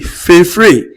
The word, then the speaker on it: préféré: Préféré, pré- féré or préféré. Préféré rather, please. Sorry for that mispronunciation.